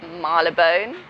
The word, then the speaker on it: Marylebone: Marylebone, which is spelt Marylebone, but that is not how it's said. It's Marylebone.